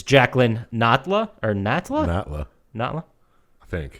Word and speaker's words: Natla: boss, I guess, Jacqueline Natley, which is not how anyone else in the rest of the game pronounces that name. It's Jacqueline Natla, or Natla?